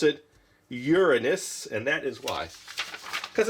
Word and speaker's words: Uranus: It says, the standard way to pronounce Uranus among astronauts or astronomers is to put the emphasis on the first syllable Ur, and they'd say the second part Anus.